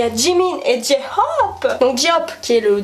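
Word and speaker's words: J-Hope: Là aussi, on prononce à l'anglaise. C'est J-Hop. Il y a peut-être un J, mais en anglais, on dit G quand c'est un J. Voilà, c'est J-Hop.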